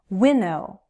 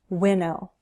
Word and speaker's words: winnow: Winnow. Winnow. 2 syllables, stress on the first. Winnow.